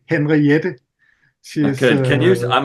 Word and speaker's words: Henriette: So I've really listened a lot to a Norwegian saxophone player called Mette Henriette.